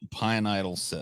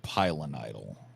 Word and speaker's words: pilonidal: Pineidal cyst. Pineidal cyst. Yeah, that's what Paul had. Yeah, it had a homicidal cyst. You know what I'm saying? It's pilonidal.